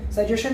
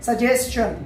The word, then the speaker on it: suggestion: वैसे ये सजेशन नहीं है, ये है सजेशन। जब भी लास्ट में किसी वर्ड के TION होता है अंत में, तो उससे पहले S होता है, तो उसको हम शन ना पढ़ के चन पढ़ते हैं।